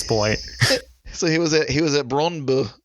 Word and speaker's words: Brøndby: So he was at Brøndby. Brøndby is how the Danish say it.